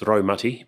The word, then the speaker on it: Raumati: ratti and its pronunciation you'll hear me say RTI um sometimes I remind myself that it's roati but um to be honest it's sort of a lifelong habit of saying ratti and it's a little